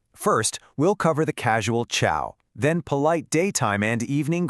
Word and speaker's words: ciao: It's a soft cha sound, kind of like the cha in the English word church, definitely not a hard ca. So, think ciao, not cow.